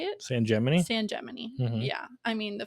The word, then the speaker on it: San Gemini: San Gemini.